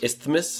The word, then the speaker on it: isthmus: Isthmus? Isthmus? I think it's isthmus. Isthmus?